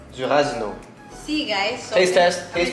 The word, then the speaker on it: durazno: Duranzo. Si. Nectar de. That's exactly what I said. Durazno.